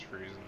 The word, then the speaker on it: Friezen: Friezen Rodriguez or is it is it Frzen or Friezen? Pretty sure it's Friezen.